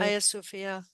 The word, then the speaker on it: Hagia Sophia: I mean, Turkey, the Hagia Sophia, is that how you Yeah, pronounce it? Hagia Sophia.